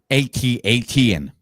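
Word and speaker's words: AT-AT: what the hell like you couldn't come is pronounced atat but this would would be at8 t 10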